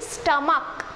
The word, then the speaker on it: stomach: But here, even though the words ends in CH, stomach, it ends in CH, but the pronunciation is stomach, k sound.